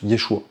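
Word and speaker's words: ישוע: Le nom du Messie c'est Yod Shin va ain qui se prononce Yeshua.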